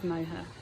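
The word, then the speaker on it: Moher: on the ferry and see the Cliffs of moha MOA I kept thinking it's Cliffs of mother you know what I'm but it wasn't two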